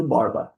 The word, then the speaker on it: Borba: A narração ficou falando falando Borb o jogo todo, mas eu assisti jogo gringo e lá na narração gringa chamam de Borba, tá? Então vou manter o a pronúncia gringa, mas ninguém tá ligando